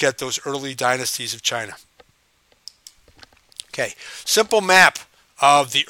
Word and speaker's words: Qin: by the Qin Dynasty even though it says qi n it's pronounced chin that's the kind of